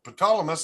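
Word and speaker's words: Ptolemaeus: moose maze okay yeah tell me it's I guess the peas Asylum it's like PFO silent P right so it's an ancient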